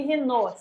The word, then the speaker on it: Raynaud: A gente pronuncia fenômeno de Raynaud, se escreve Raynaud mesmo.